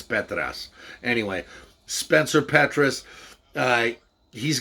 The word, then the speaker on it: Petras: insists on calling him he's greek it's petras anyway spencer petrus uh